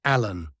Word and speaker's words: Alen: vagar marksmen and beside alen pronounced Allen the companion that Peter